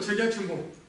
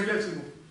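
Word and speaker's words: ཕྱག་རྒྱ་ཆེན་པོ: Чагячимбо на восточном диалекте в Каме будет читаться как цагячимбо. И это иногда бывает, ну то есть это с непривычки может оказаться трудно. Не всегда сразу понимаешь, о чем говорят. Это же чагячимбо, то есть из Ц. В некоторых камских диалектах может произноситься как С, будет сагячимбо. То есть таким образом прочтение как чагячимбо, цагячимбо, сагячимбо. Эти три произношения могут встретиться в Тибете.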